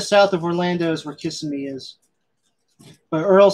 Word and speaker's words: Kissimmee: He's saying it's Kissimmee. Kissimmee. It's all the same.